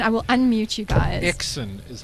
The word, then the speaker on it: XSYN: will unmute you guys exen is how you say it exen is how people say it and I'm sure it